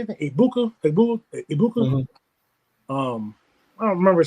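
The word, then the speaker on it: Egbuka: Ibuka.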